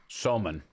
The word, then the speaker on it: somun: This Soman bread, which is the bread they put these things on, Is fantastic. unbelievably good. What is it? Soman. Spell it.